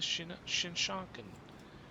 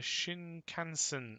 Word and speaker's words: Shinkansen: The Shinkansen. Ah, Shinkansen. Oh. There I go. Pronouncing it all wrong. I'm sorry if you were screaming at your screen like, it's Shinkansen. Ah, never mind.